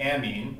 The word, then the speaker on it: amine: so we want to we have to exaggerate our pronunciations here to make sure we got this right this is an amine and this is an imine obviously these are not